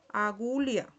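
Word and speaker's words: agulha: Cuando está esa h se pronuncia como si fuera una i. Aquí tenemos la pronunciación en portugués que es agulia.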